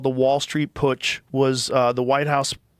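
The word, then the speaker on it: Putsch: uh the White House push. How do you is that push? Push. You said it right cuz it's a German word cuz they they had pushes in Germany.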